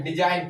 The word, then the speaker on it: design: RESIGN रिजाइन, रिजाइन में क्या होता है त्याग पत्र देना, रिजाइन, जी का उच्चारण नहीं हो रहा है ना, ठीक है। जैसे DESIGN, डिजाइन क्या होता है, रचना, क्या होता है, रचना, ठीक है।